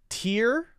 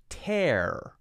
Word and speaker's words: tear: your head with heat grow dizzy susie busy tear tear in eye your dress you'll tear so here is the same spelling they're called